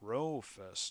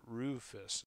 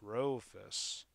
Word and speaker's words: Rufus: It's Rofus, not Rufus. It's Rofus.